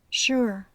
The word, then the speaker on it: sure: son las palabras Sugar sure que se pronuncian con el sonido sh se encuentra esta pronunciación